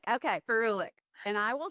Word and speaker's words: ferulic: the vitamin C E and F help me pronounce it fuic acid ferulic yes ferulic okay ferulic and I will say before discovering Dermatology I